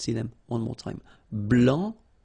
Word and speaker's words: blanc: okay, so here, masculine, blanc, don't pronounce the final C, and then blanche.